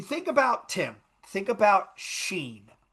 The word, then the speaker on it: Shein: So they if you think about Tim, think about Sheen, right? Think about Sheen. Shein for those that are phonetically challenged.